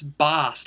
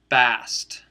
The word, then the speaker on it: Bast: You know, I don't think it's Bast. I think it's pronounced Bast.